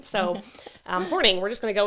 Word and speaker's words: Hornung: her last name, so Hornung, we're just going to go with that. Yep. Even though there's a U, it's Hornung, so Hornung.